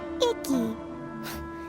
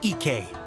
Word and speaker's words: Ike: By Cowabunga Icky. Yoimiya, this is a really strange name. Who's this Cowabunga? It's pronounced Kayabuki Ike.